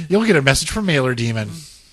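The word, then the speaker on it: Mailer-Daemon: saying, you'll get a message from Mailer Demon. Demon. That's how you say it.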